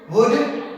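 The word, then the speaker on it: would: इस तरह से याद रखना है कि हमें इन सब शब्दों में कभी भी एल का प्रोनाउंसिएशन हम नहीं करेंगे। काम, palm, palmist, कुड, वुड, शुड, Chowk, talk, Fock, calf, behalf, better half.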